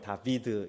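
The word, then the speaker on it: דוד: 어 여기 보시면은 어 히브리어 가 이렇게 나와있는데요 다비드 에 뭐 발음 기호를 하면 다비드 입니다 여러분 저기에 우리는 이제 우리는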